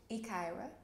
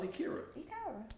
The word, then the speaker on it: Yekcira: Pronounce that for me. Yekcira. It's Yekcira. I thought it was Yekcira.